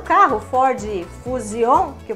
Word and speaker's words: Fusion: sabe o carro Ford Fusion que o povo fala? Não é Ford Fusion, é Ford Fusion. Então guarde bem, palavrinhas terminadas em S-I-O-N, a pronúncia é da honorável chinesinha Jean, ok?